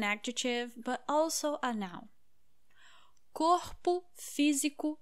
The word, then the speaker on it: corpo: Well, when we say it in singular, the first letter O, it is pronounced as O, corpo, co, o, o.